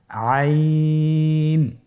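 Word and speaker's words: عين: আইন হরফটি উচ্চারণের সময় অবশ্যই 3 আলিফ টেনে পড়তে হবে এবং আইন হরফটি বারিক হরফ, পাতলা করে পড়তে হবে। আপনারা আমার সাথে বলুন আইন। আবার বলুন আইন। আইন হরফটি কণ্ঠনালীর মধ্যখান থেকে উচ্চারিত হয়।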